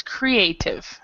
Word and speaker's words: creative: With this one, when we have the two pronunciations, right, when EA are separate, this one, the first section is so it's creative.